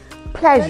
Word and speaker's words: pleasure: like you mentioned no it is wrong for you to say playo please take note if you say player that's the wrong thing to say it's very easy you just say pleasure pleasure pleasure so it's not sure